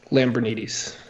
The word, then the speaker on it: Lambrinides: Do I say that right? Lambrinides. Basically, you're saying it right.